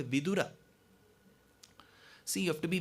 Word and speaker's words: Vidura: with his brother called vidura so you have to be very careful while you pronounce words if you stress on the da making it vidhura the meaning will change because in samskritam vidura